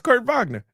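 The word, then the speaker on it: Kurt Wagner: Cuz like when you know you're speaking to people who speak German, you say the W as a V.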